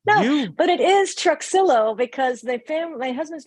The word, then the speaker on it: Truxillo: Spanish so my husband it used to be Trujillo which is how sometimes a lot of times that's how people pronounce it my husband's family tricked me see